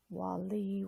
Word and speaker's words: Waliy: Waliy with the accent on the second syllable.